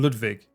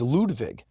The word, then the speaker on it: Ludwig: I still pronounce his name Ludwig.